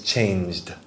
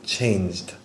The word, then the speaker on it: changed: Pronunciation, you said changed. Just make sure it's changed. Not id, changed.